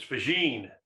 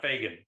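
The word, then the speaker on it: Faggin: why he mispronounced uh federico's last name is fijine not fagin well i wasn't an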